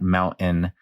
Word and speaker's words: mountain: the Denver accent like the pronunciation of the mountain with a uh what we call a glottal stop where you make the te with your throat uh uh uh uh